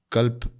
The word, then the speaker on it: कल्प: एक कल्प कहते हैं अंग्रेजी में स्पेलिंग अगर आप लिखना चाहे के ए एल पी ताकि सुनने में करेक्ट हो कल्प लोग गलत उच्चारण ना करें कल्प यह कल्प एक